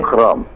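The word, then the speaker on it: أكرم: Tidak dipantulkan ya. Tidak akram, tapi akram. Akram.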